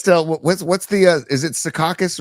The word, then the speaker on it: Secaucus: born in Jersey, when he says Secaucus, he goes, Sea Caucus. He emphasizes the first syllable.